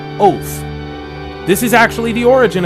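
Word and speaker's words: אות: It's spelled O T with a line under the T. Which gives it a T H sound. It's pronounced oath.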